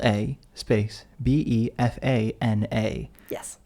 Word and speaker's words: Befana: b l a space b e f a n a yes it's a strange word because I want to say bufana but it's Befana I think some people